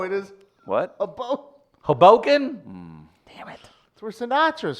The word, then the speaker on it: Hoboken: I'll go straight over to Hoboken and Give me that. Take those pink dice. Take those pink dice out the mirror. No. Hey, baby girl. What, straight over to where? Hoboken?